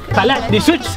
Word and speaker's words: Kalaallisut: Kalaallisut.